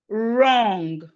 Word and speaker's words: wrong: Whenever we have W and R, Whenever you have W and R at the beginning of a word, the W is silent. So we have it in words like right, wrist, wrong, rap, wrinkle, wrinkle.